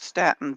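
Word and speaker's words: Staunton: pronounce it right, Staten, Virginia.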